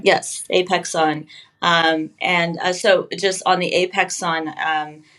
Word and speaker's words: Apexon: I've pronounced that correctly, right? Yes, Apexon.